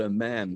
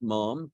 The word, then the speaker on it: ma'am: you have to call a man thereafter you call a man to rhyme with Jam not Mom Mom apparently he's the